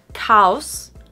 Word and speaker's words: chaos: Not chaos, but chaos. Chaos. So we actually do say each vowel sound separately in this word, unlike many other English words.